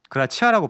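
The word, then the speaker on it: gratia: 그다음에 솔라 그라티아. 그라치아라고 발음해도 됩니다.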